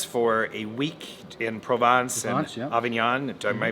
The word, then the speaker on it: Avignon: south of France for a week in Provence Avignon am I pronouncing that right you are you are actually